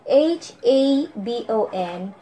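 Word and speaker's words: jabon: Yung tawag ng dagalidia kahabon is habon man, but with letter J instead of H-A-B-O-N. Akit diya ta na, magsulat is J-A-B-O-N. And they pronounce it habon.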